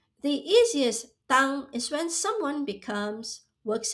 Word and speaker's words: 当: This Chinese character is pronounced as 当. Why? Because you are pointing to a moment and saying at that time, on that day, or back in that period.